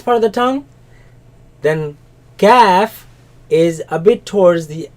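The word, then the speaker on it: كاف: Don't say calf. No, ka, calf, Kaf.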